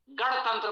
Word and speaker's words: गणतंत्र: बहुत से लोग णा का उच्चारण नहीं कर पाते, बड़े बड़े धर्मनिष्ठ सनातनी हैं, वो णा का उच्चारण नहीं कर पाते, णा के स्थान पर ना बोलते हैं।